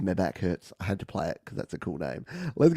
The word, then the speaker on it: MEHBACKHURTZ: It's Meback Hurts, but it's spelled MEHBACKHURTZ. Or Z. And I just love it. As soon as I saw this pop up, I'm like, Grand Theft Auto, my back hurts.